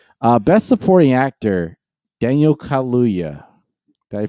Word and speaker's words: Kaluuya: uh helena zengel who looks like go ahead go keep going jesus christ all right uh best supporting actor daniel kaluuya daddy pronounced that right yes danica for judas and